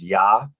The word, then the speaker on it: Jah: the hebrew god it it oftentimes is pronounced as yah yahweh that's where we